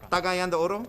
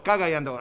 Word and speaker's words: Cagayan de Oro: Cagayan de Oro? Yeah. Oh, it's Cagayan de Oro. I got to say it wrong.